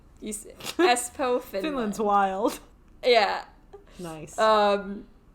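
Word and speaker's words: Espoo: so our guy is 41 um born in espo which i had to look up the pronunciation because um i did spell s pooh sounds like my coffee right you see espo finland's wild yeah nice um and i mean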